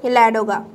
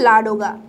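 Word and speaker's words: Ладога: ল্যাডোগা বা লাডোগা, যে যেমন উচ্চারণ করে, লাডোগা হ্রদ এখানে রয়েছে।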